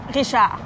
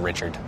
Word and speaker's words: Richard: Richard. If you're from America and are going to get slaughtered on the internet for saying anything French, you can just call it the Richard.